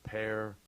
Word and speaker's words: Per: His name is Per Brink. Oh, yeah. Per is spelled P-E-R.